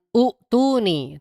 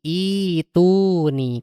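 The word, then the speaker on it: ائتوني: Kemudian di Al-Ahqaf ayat yang keempat bukan utuni tapi ituni.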